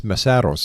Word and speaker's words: Mesaros: Now, I think I pronounced your family name wrong. It's MESAROS, am I right?